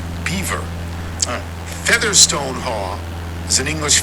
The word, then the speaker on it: Belvoir: a famous Farm in Old estate and it's pronounced Beaver Featherstone Hall is an English family it's fanore